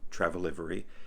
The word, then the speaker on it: Travelivery: So, and if you were curious, that's how you pronounce it, Travelivery. It's travel, livery, travel delivery combined, you know, delivering the best in travel.